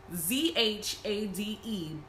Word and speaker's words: Zhade: But yeah, so the next person that you are introduced to is Jade, which is spelled Z-H-A-D-E, but it's kind of like shade, but Jade.